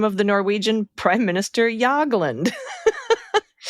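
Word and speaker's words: Jagland: Good yab on the name of the Norwegian prime minister Yagland. Correct on both the J and the G and the right as uh as well.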